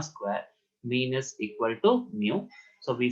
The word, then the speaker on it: mu: which are mu and sigma so it is pronounced as mu mu mu it is written like this the left